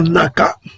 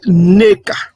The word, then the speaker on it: Neka: Donc, au lieu de dire, prononcer comme les Ngoï font Naka, son nom n'était pas, ce n'est pas Naka, c'est Neka.